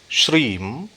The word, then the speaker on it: श्रीम: स्वाहा यह मंत्र है यहां जो श्रीम बीज है इसका उच्चारण ध्यान देना है श्रीम नहीं करना यानी गक नहीं करना यानी मकार करना है ओम श्रीम स्वप्नेश्वरी कार्यम